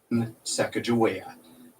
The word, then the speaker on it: Sacagawea: A quick note, the name of today's subject is pronounced many different ways. To avoid confusion, we will be referring to her by the pronunciation Sacagawea.